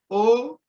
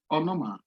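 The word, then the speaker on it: ὄνομα: Now this word, the English equivalent is O-N-O-M-A, onoma, onoma.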